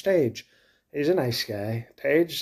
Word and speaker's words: Tage: going to say is your name is Tage and I'm sure people make jokes about rage how it rhymes with rage but I'm going to